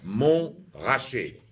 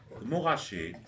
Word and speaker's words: Montrachet: pronunciation loom washi and the key to pronunce pronouncing that word is to completely ignore the fact that they're two T's in it right just get rid of those T's they don't exist moe Hoshi boom mihashi